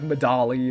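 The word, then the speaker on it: Medali: name of this town medley is like you could pronounce it okay it could be like madali or something like that but there is an NPC who says it sounds like the word medley which is something they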